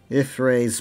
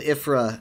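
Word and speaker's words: Y'ffre: would say, I think she said Ifra at a point, and I think I've heard it pronounced that way, but it's not really a thing that's often said, and I found it very odd. And then I noticed, like, after some time, she stopped saying Ifra and actually started pronouncing it Ifray.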